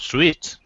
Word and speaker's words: suite: Yes, it seems the same, not sweet. It is sweet, and how do we spell that kind of sweet on the right side? It's S-U-I-T-E.